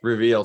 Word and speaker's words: Rveal: He is the CEO of, is it Rveal Media? Did I say that right? Yes, Rveal. Spelled kind of funky, but if it had an extra E in there, it would be pronounced Rveal Media.